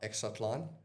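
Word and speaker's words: Exatlon: Exatlan. How? Exatlan.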